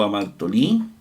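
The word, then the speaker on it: ἁμαρτωλοί: está omitiendo y pone telón y Cómo se pronuncia ahí que es e que alguien le corrigió hamatolí o a martolí muy bien el tontes no está presente tampoco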